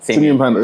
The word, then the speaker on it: Simeon Panda: Am I pronouncing your name correctly? Yes, perfect actually. Simeon Panda? Simeon Panda, that's it.